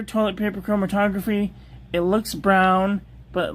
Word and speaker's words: Bruijn: That's pronounced brown.